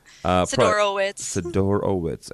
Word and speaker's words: Sidorowitz: Sidorowitz. I even wrote it phonetically.